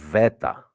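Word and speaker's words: βήτα: the Ala MH and the beta is pronounced V Veta VA you forget the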